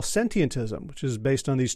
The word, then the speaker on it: sentientism: talk about a new word for me uh sentientism first of all did I say it right yeah that's a great start your pronunciation was perfect it has a few too